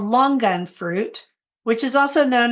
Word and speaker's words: longan: And that's how she pronounces it, longan. an emphasis on the G.